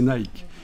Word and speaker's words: Nike: Nick Nike savez qu' en principe ça se prononce Nick parce que ça c'est une DS de l'Antiquité la DS nické mais bon comme c'est pas très bien vu pour l'instant dire à notre époque on va prononcer Nike on va garder ce l'adjectif